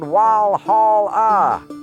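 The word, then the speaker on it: Walhalla: But because the German W sounds like a V, they spelled it Wal Hall. As you know, to this day, it is pronounced as it is spelled Wal Hall.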